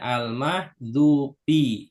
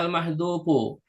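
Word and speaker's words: المحذوف: dibacanya waumlatul f'li almahdzufi Perhatikan cara bacanya almahdzufi ya boleh enggak dibaca almahduu boleh enggak dibaca almahdu Pak enggak kenapa enggak ada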